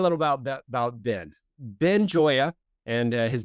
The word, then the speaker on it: Gioia: Ben Joya and his name spelled G O I O I A, but it's pronounced Joya.